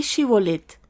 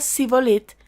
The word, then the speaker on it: Shibolet: Si le contestaban no, ellos decían: «Muy bien, di Shibolet». Si decía Sibolet, porque no podía pronunciar la palabra correctamente, lo agarraban y allí mismo, en el cruce del Jordán, lo degollaban.